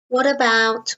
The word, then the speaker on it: what about: going to the cinema notice the pronunciation it's not what about what about we kind of join them together it's what about what